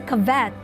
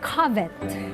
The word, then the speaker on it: covet: mom you don't say cavett according to the dictionary it's covet and she didn't believe me because filipinos will say cavett and i said mom we have to pronounce it properly it's covet and so